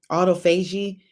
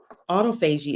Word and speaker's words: autophagy: amazing it promotes af auto f auto fuji autophagy i meant to practice it before i came up it's spelled let me spell it for you a